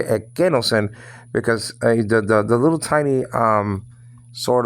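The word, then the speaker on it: ἐκένωσεν: You don't do that, or you don't say, you don't say no sen, no, because the accent is on the second syllable.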